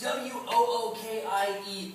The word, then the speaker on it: Wookiee: So you think it's W-O-O-K-I-E-E? No. Good. I know it's spelled W-O-O-K-I-E-E. Wookiee? Wookiee?